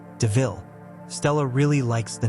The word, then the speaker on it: DeVille: Horace takes Estella a new car called a Panther DeVille and mentions that it sounds like the word devil. Even though it's said as DeVille, Stella really likes the name.